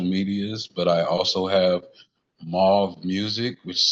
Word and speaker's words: M4UVE: But I also have Mauve Music, which is spelled M4UVE Music.